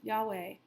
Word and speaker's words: Yahweh: the four Hebrew letters transliterated as yhw H which many Christians pronounce Yahweh but even among Christians there's an awareness of the limitations of language for God is concerned st.